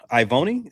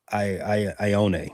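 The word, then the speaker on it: Ioane: Ivoni, that's how you say his name, out of Penn State. I own it. You guys pronounce every vowel in Ione. Polynesian. Yeah. Ione.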